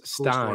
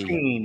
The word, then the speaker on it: Steen: Travis Stein. Cool, it's S-T-E-N-E. Yep. Travis Steen, yeah.